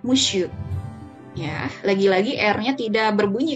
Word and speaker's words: monsieur: Nah, ini dibacanya monsieur ya. Walaupun ada n di sini, tapi dia tidak ada bunyi eng-nya sama sekali ya untuk kata ini. Jadi dibunyikannya monsieur.